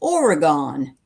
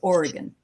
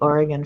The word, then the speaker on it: Oregon: But people in other parts of the country call it Oregon, but it's not. It's Oregon.